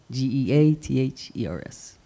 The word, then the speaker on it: Geathers: And It's Gathers spelled like feathers, but with a G. Geathers.